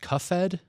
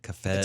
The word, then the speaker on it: Cuphead: Pronounced Cuffed? No, Fed. Yeah, PH. Fed. Cuphead. It's actually a PH.